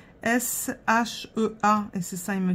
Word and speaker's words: Shea: Et c'est ça, il me dit oui, on prononce ça Shea. Pas Chia ou Chat ou... C'est Shea. C'est comme si on l'écrivait S-H-A-Y. Sauf que là, on l'écrit S-H-E-A.